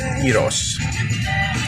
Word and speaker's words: Gyros: I hit Belmont that's uh where the central Eros I saw you properly pronounce it I've always pronounced it when we first went Central you know first open we just knew we thought it was Gyros because we never we never heard of that